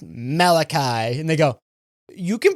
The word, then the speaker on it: Malachi: I I picked Malachi, but really it was based off of Malaki, who I don't know who he was. What the is Malaki?